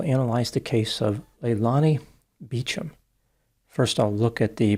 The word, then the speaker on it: Beauchamp: The way her last name is spelled, it would usually be pronounced Beauchamp or Beauchamp, but not in this instance. Instead, she pronounced it Beauchamp. Eventually, the Beauchamp family moved to Folsom, then to Monterey.